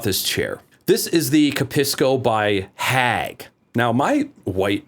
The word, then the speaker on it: Capisco: This is the Capisco by Hag. Now, my white Michigan ass wants to pronounce it Hag, but I think it's Hug?